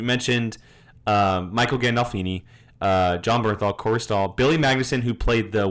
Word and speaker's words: Corey Stoll: how to Corey pronounce Stoll. his name? Corey Stoll. Stoll. We looked this up last time. Corey Stoll is playing Uncle Junior, who didn't know that.